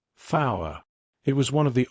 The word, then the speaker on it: four: those Alpha numerical names like Alpha Zulu tree fow 5 I replied a few brief Chuckles arose when I said fow it was one of the oldest jokes in